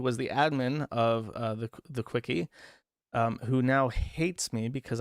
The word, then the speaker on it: CWCki: And then they made an entire wiki dedicated to Christian Weston Chandler called the Quickie, which is CWCKI, pronounced Quickie.